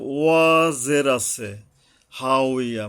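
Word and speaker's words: هاوية: জের আছে, হা উইয়া, মানে এখন অনেকে যে হাবিয়ার দুযোগ বলে, এটা বাংলা কইরা কইরা না আরবির গুণগত মান নষ্ট করে ফেলা হয়েছে অনেক ক্ষেত্রে। যেমন এখানে হা উইয়া, কিন্তু সবাই হাবিয়া বলে চালাই দিচ্ছে, হাবিয়ার মার দুজক অনেকে বলে, মুখে মুখে দেখছি।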